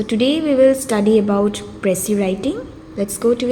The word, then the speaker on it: précis: So today we will study about précis writing. Let's go to its definition first. A précis, a French word pronounced as précis.